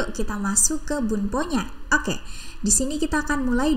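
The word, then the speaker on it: を: kita akan menggunakan partikel O ya kalau di dalam huruf Hiragana ini cara bacanya adalah wo ya teman-teman namun ketika kita gunakan sebagai partikel maka cukup cara bacanya O seperti itu saja ya teman-teman nah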